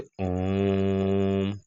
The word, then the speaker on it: ओम: प्लुत स्वर, जिसके उच्चारण में तिगुना समय लगे, जैसे हम लोग पूजा पाठ करते तो ओम बोलते, तो ओम कम समय में नहीं बोलना है, लंबे समय तक, जैसे ओम, तो तिगुना समय, लंबा समय तक खींचा जाता है, ठीक है।